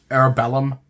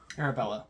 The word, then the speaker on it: Arabella: Arabellum? Arabella.